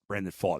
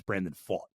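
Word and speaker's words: Brandon Pfaadt: Brandon Faught is how you pronounce the name. I always want to say Fat because it's spelled Pfaadt, but it's Brandon Faught.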